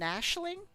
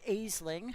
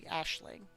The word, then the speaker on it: Aisling: I'm an Ashling? Yes, that's the proper pronunciation, everybody. It's not Aisling, how I always say it. It's actually Ashling.